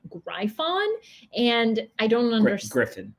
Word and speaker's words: Gryphon: Griffin. Oh, wait, are you sure it's not Gryphon? Positive. Wait, why is it Griffin? It's not spelled like Griffin, let me tell you that. PH makes an F sound.